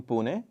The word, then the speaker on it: Pune: Because you grew up in the city of Pune, if I pronounce it correctly. Exactly. Pune.